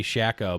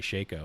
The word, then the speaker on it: Shaco: or shaco or no they say shacko but it's actually shaco apparently yeah why they